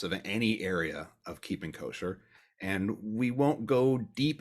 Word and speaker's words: kosher: from um and so the word kosher is actually the ashkenazi pronunciation for the hebrew word kasher it should be said